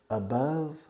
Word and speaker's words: above: and many other ways above rhymes rima with if this were not the temperature zero but this is love below love above love it rhymes is the